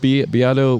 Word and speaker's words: Beato: The guy, that was my observation, and the guy I just saw on the work, it's pronounced Beato, Rick Beato.